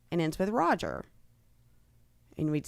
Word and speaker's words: Roger: But then again, it should be Roger because G should not make a just sound. Or you should spell it R-O-J-E-R. If it's followed by a vowel, man, it softens. Or maybe you could put a Y after it consonant. to make it a like rogier.